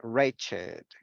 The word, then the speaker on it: wretched: Yes, en este caso lo vamos a pronunciar con esto, con it, aged, blessed, crooked, naked, wicked, and wretched. Con esto, con ed.